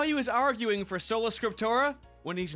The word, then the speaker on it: Sola Scriptura: Just, Sola Scriptura. It's so. Yeah, the M. There's no M.